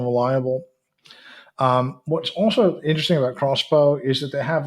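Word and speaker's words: X-Bow: Um, Another space news is the number 4 news item, and that is that XBow, or it's spelled X hyphen bow, but it's actually supposed to be pronounced crossbow.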